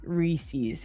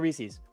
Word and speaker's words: Reese's: Go vote for Reese's. It's reset. grinding rhyming with peace or geese.